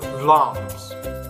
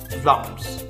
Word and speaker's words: Vlaams: So as you can see, the word Vlaams has two A's. So and you pronounce those A's one sound but long. So Vlaams, not Vlaams, but Vlaams.